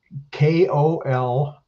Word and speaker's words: Kolodziey: Again, it's Kolodziey, and I'll let you pronounce that, or not pronounce it, but spell it if you don't mind your last name, just so everyone has it. Kolodziey.